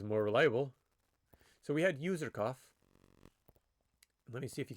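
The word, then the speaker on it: Userkaf: Okay, how to pronounce user cuff. Okay. So, let's hear it. User cough. User cough.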